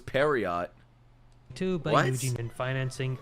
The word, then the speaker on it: Pierrot: Studio Pierrot was founded in 1972 That's how you say it? Piero? I thought it was Periot.